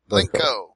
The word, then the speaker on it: Blencow: Blencow. Not Cow.